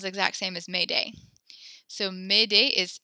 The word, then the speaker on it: Mayday: French Zuni midday come help me cool Olivia made a is how you pronounce that and that sounds exact same as made a so made a is how to help me